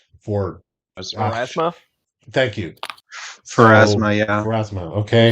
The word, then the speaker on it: Pharasma: It's the I think I had it at Phasma. What do you call it? For Pharasma? thank you. So Pharasma, yeah.